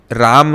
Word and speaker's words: रामः: South में रामा कहते हैं, पर दोनों गलत हैं। राम गलत है, रामा भी गलत है। ओके। हाँ, सही प्रोनाउंसिएशन है रामः, क्योंकि संस्कृत में जो हम लिखते हैं ना, र आ म और दो विसर्ग है। यस। ना, वो विसर्ग का प्रोनाउंसिएशन है अह, रामः।